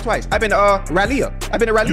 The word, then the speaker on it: Raleigh: I've been to uh Raleia.